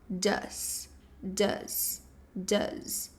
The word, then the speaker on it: does: Mas na verdade o does ele pronuncia como um d, ok? E levemente um som de Z no final does does.